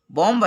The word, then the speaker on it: bomb: यहाँ बाम, बॉम्ब है लेकिन इसको बाम पढ़ेंगे।